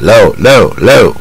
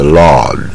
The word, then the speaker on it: law: it's a long 啊，所以这个字中国一般发不太准，都念成 low，它是 law a rule usually made